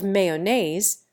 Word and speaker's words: mayonnaise: The first syllable of mayonnaise rhymes with hay.